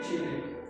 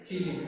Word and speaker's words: Chile: Some countries में they pronounce Chile and in some countries they pronounce Chile. So you can say Chile also.